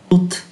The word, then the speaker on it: toutes: phát âm là tu, trong khi hai chữ cuối là tut, T-O-U-T-E, T-O-U-T-E và T-O-U-T-E-S. Tức là chữ này, và chữ này có cùng cái phát âm và phát âm là tut, tu, tut.